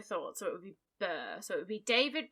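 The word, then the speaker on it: Mbir: i pronounce the b i would assume it would be a silent m yes i thought so it would be burr so it would be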